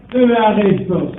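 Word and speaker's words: εὐάρεστος: Le terme agréable vient du grec euarestos. Euarestos. Euarestos. Ça s'écrit E-U-A-R-E-S-T-O-S.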